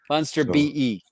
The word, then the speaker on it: Funster BE: So am I pronouncing the yeah, it's actually Funster and then BE from it's my land code. Okay. All right. Oh, okay. Funster BE.